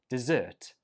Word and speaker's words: dessert: Whereas this one is pronounced dessert, dessert, dessert, and the stress goes on the second syllable, dessert.